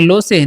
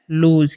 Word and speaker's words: lose: LOSE, तो इसे क्या पढ़ना है, लो से नहीं, इसे पढ़ना है लूज।